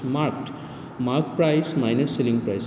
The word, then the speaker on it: marked: Many students are pronouncing it market, it's marked.